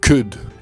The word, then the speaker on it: could: On est presque sur un u. Should could. Et de la même façon, on ne prononce pas le L d'un should et kud.